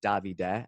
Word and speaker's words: Davide: I think Davide, it's Davide, actually for the Italian pronunciation.